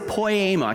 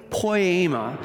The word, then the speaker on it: poema: really easy to pronounce the word is poema can you say say it with me poema kind of sounds like the word poem doesn't it and it is